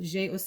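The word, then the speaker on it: J'ai Osé: J-Ose is how you say that.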